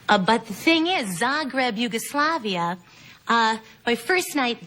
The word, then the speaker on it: Zagreb: ganzel recently returned from did I pronounce it right Zagreb yes Zagreb Zagreb Yugoslav Yugoslavia have you had the bin